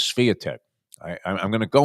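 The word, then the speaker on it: Świątek: But and notice we've modified our pronunciation of the because u I believe it is Spitech.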